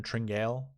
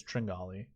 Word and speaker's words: Tringale: tringali and brian stewart i love when people pronounce this cameron tringelle it kind of kind of shows your knowledge in this golf industry so those listening it's it's tringale anyways uh this group